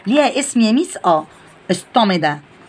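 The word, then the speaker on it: stomata: ستوميدا. اسمها ايه؟ ستوميدا. تاني، يبقى الاوبننج سمول اوبننج اون ليفز، يعني فتحات صغيره على الليفز، ليها اسم يا ميس؟ اه ستوميدا، هي بالتي بس بتتنطق بالدي.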